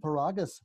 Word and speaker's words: Paragas: to filmmakers i'm very happy to have paragus with with us today did i get